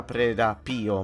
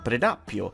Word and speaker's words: Predappio: In molti mi hanno detto che non si pronuncia Predappio ma Predappio e che il referendum per la Repubblica è stato il 2 giugno e non il 6.